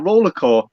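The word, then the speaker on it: RollerXCore: But my channel name is Roller X Core or Roller Core because the X is silent.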